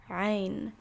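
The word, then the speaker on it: غين: this next one is rein this one i don't particularly have many tips for getting the only tip that i have is that it's it's again just like a really intense a sound there's a and then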